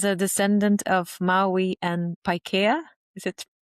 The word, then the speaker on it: Paikea: And as a descendant of Maui and Paikea, is it how we say? From Beautiful. Yes, Paikea.